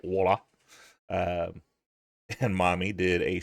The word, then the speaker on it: Waller: You had Grayson Waller and sorry, I gotta say it right, Waller.